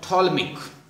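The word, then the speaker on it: Ptolemaic: आगे थोलमिक पी साले साइलेंट है इसमें थोलमिक थोलमिक सिस्टम प्रॉपर नाउन है ये theory that earth is the stationery centre of the universe.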